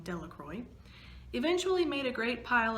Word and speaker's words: Delacroix: jones and dickie delacroix the villagers pronounced his name delacroix eventually made a great